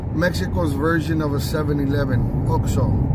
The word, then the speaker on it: OXXO: That XOXO right there, or I mean, it's called, how do you pronounce it? OXO. It's pronounced OXO.